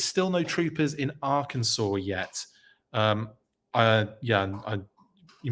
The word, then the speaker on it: Arkansas: still no Troopers in Arkansas yet um uh yeah you might be surprised I got that pronunciation correct I've been in the states long enough to know that that's Arkansas and uh Kansas amazing